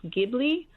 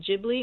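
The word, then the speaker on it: Ghibli: caproni 308 it's actually the word in Italian is pronounced gibli but it said that he mispronounced it jibli and so then it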